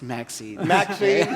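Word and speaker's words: MXene: grail of new materials I don't Yuri is Maxine well again I can say it again by the way is spelled not as in the you know Bistro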